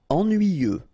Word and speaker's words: ennuyeux: Ennuyeux. Okay, final X not pronounced, and then ennuyeux. Ennuyeux.